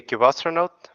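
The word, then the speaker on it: Kubestronaut: It is a Cubastronaut. Cubastronaut.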